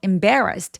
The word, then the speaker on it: embarrassed: 그리고 embarrassed 할 때 임 첫 번째 음절은 힘을 쫙 빼 주시고요. 배가 굉장히 잘 들릴 수 있도록 B부터 또렷하게 발음합니다. embarrassed. Embared 여기서 맨 마지막에요를 제가 발음 어떻게 했죠? 트로 발음했죠. 왜 그래요? 동사 원형이 s가 바람소리니까이를 통째로 트로 발음하니 I was so embarrassed라고로 발음해 주시면 되겠습니다.